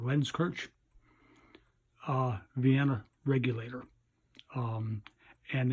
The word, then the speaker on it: Lenzkirch: 18-hundreds lens coach diktats I pronounce that lens coach Vienna regulator and it's